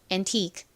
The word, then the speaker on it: antique: 발음해 볼게요. Antique antique 좋습니다.